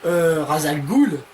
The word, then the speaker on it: Ra's al Ghul: ils décident de partir et donc il rencontrera salle gould boules molles à la gaule la prononciation c'est de la merde ra's al ghul qui est donc joué par liam delson qui